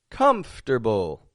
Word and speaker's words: comfortable: different folks different different comfortable comfortable in my own skin comfortable comfortable not wrong but comfortable a little bit quicker controlling the stress comfortable comfortable in my